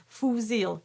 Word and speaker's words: fusil: Very difficult word to pronounce because you've got the U and you'll be tempted to say the L. So make sure you don't say fou and make sure you don't say zeal.